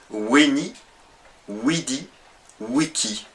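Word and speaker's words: veni vidi vici: de cette expression latine la prononciation la plus proche serait plutôt weni widii wiki le V étant prononcé plutôt comme un W et le C étant un C à consonance dure donc un que prononcé à ce moment-là voilà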